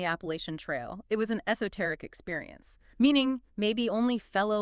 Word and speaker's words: esoteric: Okay, another interesting one, esoteric. E-S-O-T-E-R-I-C. Esoteric. 4 syllables, stress on the third.